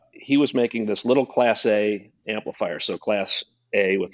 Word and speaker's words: Classé: to manufacture under the name class a so with an accent on the e um the name actually